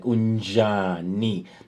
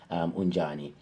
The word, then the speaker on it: Unjani: And if you remember also, I said you can add N before J, so it can have that element of on the throat, like Unjani. That's the correct way of pronouncing Unjani.